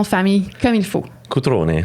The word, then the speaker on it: Cutrone: Dis-moi, comment on prononce ton nom de famille comme il faut? Cutrone. Cutrone.